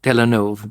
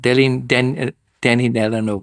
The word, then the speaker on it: Denis Villeneuve: Oh my God, I can't pronounce his name at all. Villeneuve. Denis Villeneuve.